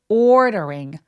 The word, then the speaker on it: ordering: 주시면 좋을 것 같고 ordering 이렇게 그냥 D 발음 내셔도 돼요. 안 굴리셔도 돼요, 여러분. ordering 이렇게 안 하셔도 돼요. ordering 하셔도 됩니다.